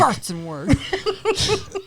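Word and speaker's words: Gartenzwerg: But you gotta say it like a German, almost sounds like- Gartzenwerg.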